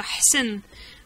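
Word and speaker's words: أحسن: Ahsen. Alors, je t'écris Ahsen. Souvent, en Dalija, on dit même Ahsen. Pour toi, ça, c'est un peu difficile de prononcer ça. Hsen. Commencer avec un grand H. Ha.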